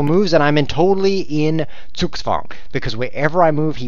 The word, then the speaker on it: Zugzwang: That does not say Zugzwang. It says Zugzwang. It's German, and it means I wish that it were his turn.